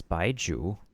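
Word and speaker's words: Baizhu: Wait, also let me make sure that I know how to pronounce his name and the name of his snake cuz of course Chinese. Yeah, it's Baiju and his snake's name is Chong.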